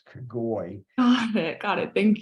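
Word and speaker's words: Kogoj: but the cogent ly that J is pronounced like an I so it's cagoli believe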